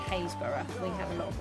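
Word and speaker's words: Happisburgh: s b u r g h but it's pronounced hazeur we have a lot of words like that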